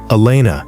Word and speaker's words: Elena: Elena, he pronounced it correctly, with the proper Spanish emphasis on the second syllable.